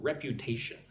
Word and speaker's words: reputation: Unfortunately means like bad, unlucky, unluckily damage a professional reputation. Look at the word. Hello, ticker. Hello, Eigor. So, reputation. Rew tun. Four syllables. Reputation. Emphasis goes on the third syllable.